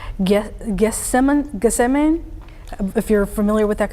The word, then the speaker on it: Gethsemane: almost halfway through that polygon there, or just north of where I believe, excuse me if I pronounce this community wrong, Gethsemane, if you're familiar with that community. Gethsemane.